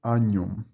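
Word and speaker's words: agnum: O GN, desculpe, tem som de NH. Agnom. Bom, aqui ele sugere, né? Maria tinha qual que é a tradução, né? 3 palpites do que seria agnom.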